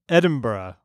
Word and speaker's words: Edinburgh: wrong and you jump all over me it's pronounced Edinburgh Edinburgh Edinburgh his wife's Lindenberg now States of